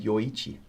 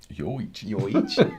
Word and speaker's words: Yoichi: Miyagikyo is yo. And Yoichi is also yo.